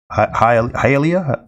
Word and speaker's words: Hialeah: never say this town hialeah florida that say it right hey elia it looks like hallelujah florida but hialeah floor uh question gatormall uh